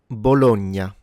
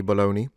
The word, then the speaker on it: Bologna: of mine never say bologoney but regardless gn is a ny sound.